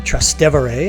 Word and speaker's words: Trastevere: Maria is located in the popular neighborhood of trastevere or trastevere as I've heard it pronounced trustive area is characterized by lots